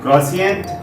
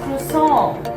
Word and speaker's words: croissant: Is it croissant? Oh no, it's pronounced as croissant.